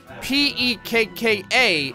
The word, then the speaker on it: Pekka: And it was saying that the consonants, like when you have a double consonant, it is pronounced individually. So like if it's P-E-K-K-A, it's Pek, and then